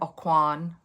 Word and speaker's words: Aucoin: Today, I'm trying the Kevin Acoin. I believe that's how you say his name. I think I've been saying it wrong forever. A coin.